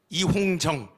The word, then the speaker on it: 이홍정: 두 번째는 조금 지났습니다만 2021년 NCCK의 총무 이홍정, 그 중국 옛날 이홍장이 생각나서 자꾸 이홍장이라고 발음하는데 이홍정 총무가 그때 당시 주동이 돼서 차별금지법 제정 촉구를 NCCK가 했습니다.